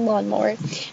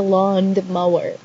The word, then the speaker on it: lawnmower: the word lawnmower because she thinks that it's said lawn the mower with a d after lawn and she says that although it's not spelled with a d it's just like a silent hidden d yeah like in between lawn and mower but that's fake there's no such thing as a london mower this is your land